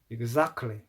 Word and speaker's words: exactly: Exactly, exactly. 차이는 이제 에 발음을 아 발음을 하고 철자에 있는 t를 발음하지 않는다는 점입니다.